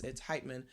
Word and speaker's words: Heitman: I'm pronouncing, I shouldn't say Hitman. It's Heitman.